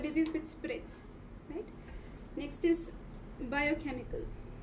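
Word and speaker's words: biochemical: इसे epidermis right this इस with spirits it's बायोकेमिकल डी शब्द इसे बायोकेमिकल वेयर इस डी स्ट्रेस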